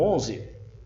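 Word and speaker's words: eleven: Queria voltar aqui para o número 11, que você diz não 11, você diz I. Aqui nesse primeiro E, permanece o som original da letra E em inglês, que é I. Então fica assim, 11.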